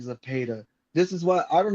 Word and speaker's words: Zepeda: Zapeda.